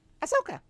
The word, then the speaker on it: Ahsoka: It goes, Ahsoka. Ahsoka.